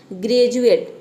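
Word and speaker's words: graduate: ग्रेजुएट, ग्रेजुएट आपको सभी को पता होगा, तो यहाँ पे देख सकते हैं कि डी को हम ज प्रोनाउंस करते हैं।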